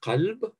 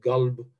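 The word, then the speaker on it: قلب: So the Arabic word qalb, heart, is pronounced galb or galib. Yeah, they also have a typical velarization of the la in the Bedouin dialects, whereas in the sedentary dialects, the people either say qalb or alb, which shows this typical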